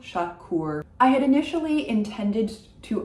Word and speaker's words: Chacour: Final C is pronounced, final R is pronounced. Éric, Chacour, Chacour.